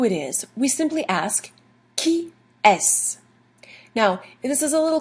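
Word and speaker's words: qui est-ce: The question qui est is spelled Q-U-I-E-S-T-C-E. All of that boils down to qui est.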